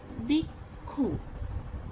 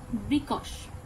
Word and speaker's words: বৃক্ষ: যেমন বাংলায় বৃক্ষ শব্দটি উচ্চারণ হয় বৃক্ষ, অথচ সংস্কৃত উচ্চারণ রীতি অনুযায়ী তা হবে বৃকশ।